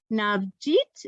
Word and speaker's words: Navjit: She'll probably tell you a little bit more about that, but her name is Navjit. Did I pronounce that right, Navjit? You did.